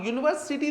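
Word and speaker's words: university: अगर हम बोले यूनिवर्सिटी, अब यूनिवर्सिटी देखिए यू लिखा हुआ है, वॉवेल है, लेकिन इसका उच्चारण कॉन्सोनेंट साउंड से होता है, यू से होता है।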